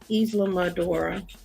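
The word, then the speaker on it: Islamorada: Isla Madura. I don't know what that is. He's telling you how to pronounce that city name.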